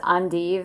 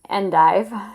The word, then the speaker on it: endive: And yes, it is pronounced endive and not endive, like a lot of Americans want to say.